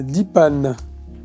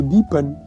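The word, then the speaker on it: Dheepan: l'Algérie filmant des euh Dipan ou Dipan euh avec la prononciation tamoule film de jacodiar récompensé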